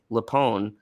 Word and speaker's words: LuPone: quietly in the background saying the correct um pronunciation for uh of lapoon's last name it's lupone and uh she's one of she's one of